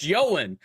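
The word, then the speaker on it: Ioan: It's pronounced Yoan.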